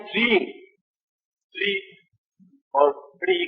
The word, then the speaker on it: श्रेंग: बाकी जो है छठा बीज आप लिखिए श्रेंग।